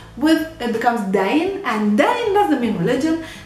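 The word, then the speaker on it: دَين: Now, if we take this same word deen, which means religion, and we change the vowels of the first word, adding the short fatha, the short a, the whole word pronounced would be dain.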